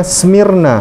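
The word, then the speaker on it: σμύρνα: Bacanya Smyrna.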